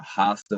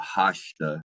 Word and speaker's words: Rasta: So for those who don't speak Brazilian Portuguese, the R makes most of the time makes an H out H sound, especially when it's at the front of a word, especially. So Rasta is pronounced either Hasta or Hasta, depending on what region of Brazil you're from.